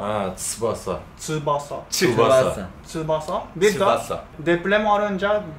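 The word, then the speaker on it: 翼: Tsubasa diyorsunuz ama aslında Tsubasa Japonca'da. Ha, Tsubasa. Tsubasa. Tsubasa.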